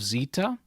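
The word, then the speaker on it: Ζήτα: after that we have Zeta Zeta is pronounced like the Z in Zeal after that is ITA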